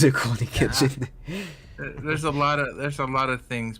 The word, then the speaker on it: Rurouni Kenshin: Rikuro Kenshin. Apparently, it's a remake of an old anime that I You never butchered that.